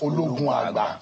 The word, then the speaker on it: Ologunagba: So you Ologunagba, pronounced Ologunagba.